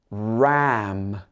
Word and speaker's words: ram: to pronounce for example lamb lamb and ram ram the r sound can be very difficult for cantonese speakers ram so your tongue is